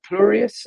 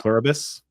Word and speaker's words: Pluribus: Uh Plurius. Is it Plurius? I can never pronounce it. Plurbus.